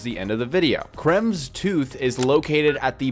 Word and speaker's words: Kremvh: Today I'm going to show you how to get Creme's Tooth. Creme Tooth. Yeah. Yeah, that's how you say it.